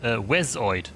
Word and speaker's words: Wezoid: By the way, my name is pronounced Wezoid. Please. Okay, Wezoid. My apologies. Of course, there is no second E.